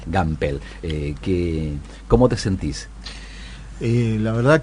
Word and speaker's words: Gampel: Así se pronuncia. Gampel.